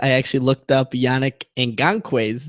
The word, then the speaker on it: Ngakoue: Before I go into that, I actually looked up Yannick Ngakoue's name on a highlight reel because I'm like, how do you pronounce this guy's name?